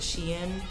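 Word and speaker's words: Shein: always called it Shane I know people pronounce it Sheen but I'm just so accustomed to calling it Shane these colors are so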